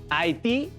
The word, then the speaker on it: Haití: nota de los ejemplos haití tiene su sílaba tónica en ti al acomodar la de